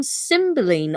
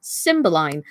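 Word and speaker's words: Cymbeline: wink and that's actually from symboline or symboline as it's also known as you'll find as well there are two variations on some of the pronunciations but it's from symbolize in this instance from act 3 scene 4.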